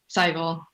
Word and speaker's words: Sehgal: How do you pronounce it? Sehgal.